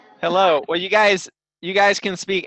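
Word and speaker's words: Hallo: Exactly like English. Hello. Hello.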